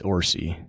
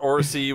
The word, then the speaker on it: Orci: Is that how you pronounce that? Orci? Orci? Orci? I think it's Orci. Orci. Yeah, we'll go with that. And Robert Orci.